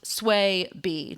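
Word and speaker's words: Swaby: Both Swayes, both center backs, and I love one of them tweeted, "Hey, my name and the other Sway's name is pronounced Sway B."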